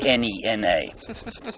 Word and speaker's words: Nhenha: NH e NH h a slightly aspirated H or n says n